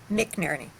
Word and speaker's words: McNerney: Is that how you pronounce it? McNerney? McNerney.